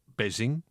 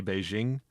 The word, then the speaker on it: Beijing: Because like it's written like Beijing and most people like say Beijing. If I remember correctly, the way it's pronounced is something more akin I'm not going to get this perfect because I don't know Chinese, but it's more akin to like binging.